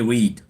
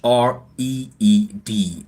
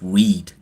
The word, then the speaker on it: Hreed: not Gemini call me weed my mistake weed it's been a pleasure chatting with you weed it's h r e e d h is silent so basically it's read I sure okay that's